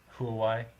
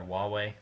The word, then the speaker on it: Huawei: there's other systems like huaai or rather Huawei that's how you pronounce it uh kind of